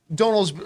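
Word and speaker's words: Domhnall: is also turning into an incredible incredible actor donald he's he's uh sorry i keep mispronouncing donal uh donald gleason i i just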